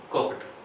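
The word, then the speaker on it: cooked: Form बन जाती है तब वो टे उच्चारण होता है कुक्ड।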